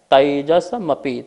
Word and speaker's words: तैजसमपि: दूसरा सूत्र है तैजसमपि, तेजस नहीं आई की मात्रा है, तैजसमपि।